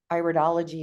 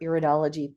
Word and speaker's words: iridology: And I love that you bring up iridology or iridology, pronounced both ways, because that was my favorite topic when I was going through school.